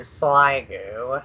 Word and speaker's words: Sliggoo: I'm a Chris and I call it um sliggoo and I heard sliggoo and now SIL do but if no further